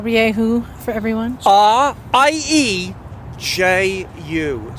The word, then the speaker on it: Rieju: Rieju.